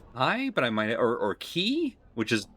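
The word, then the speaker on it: χ: Right, it's pronounced Key because it's X, the Greek letter CHI, which I thought was pronounced Kai, but maybe it's Key.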